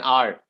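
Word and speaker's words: hour: So as you rightly mentioned, an enemy, an umbrella, an R. In the word R, H is silent.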